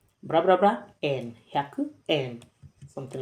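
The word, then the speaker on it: 円: En En, so it's written as yen, but the pronunciation is en.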